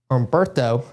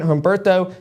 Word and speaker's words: Humberto: to pretty much prevent Humberto, which is the hurricane right now. Still learning on pronouncing it the right way. I think the H is silent.